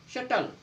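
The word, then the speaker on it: subtle: Next, जब बी के बाद टी आए, जब बी के बाद टी आए, जब भी बी के बाद टी आएगा तो आपका बी साइलेंट होगा। डेटर, डाउटर, शटल, देखो बी है और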